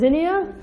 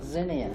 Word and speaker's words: Xinia: My name is Xinia, or, or, whatever it's easier.